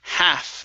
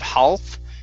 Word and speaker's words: half: go to the word half the l here is silence instead of half it's half half half the size good this word here